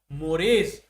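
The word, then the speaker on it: mores: तो इनको कहा जाता है मोरेज। सोसाइटी के ये इसका प्रोनाउंसिएशन है।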